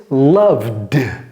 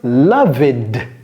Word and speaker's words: loved: All right, so why do we pronounce this loved plutôt que loved ou bien loved?